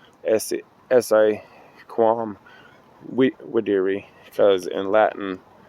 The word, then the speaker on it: Videri: I think it's actually pronounced Essa Quam Videri, because in Latin, I think it's Latin, and in Latin the V sounds like a W.